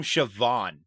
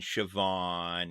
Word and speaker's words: Siobhan: it's like the name Siobhan yeah it's not yeah it's not even spelled close to how it's pronounced uh because I know